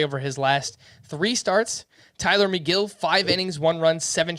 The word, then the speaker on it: Tylor Megill: mets and that's t-y-l-o-r-m-e-g-i-l-l neither of the names is spelled like it sounds tyler mcgill of the mets he